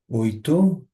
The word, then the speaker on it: oito: যেটা আট সেটাকে আমরা বলবো হচ্ছে ওই তো।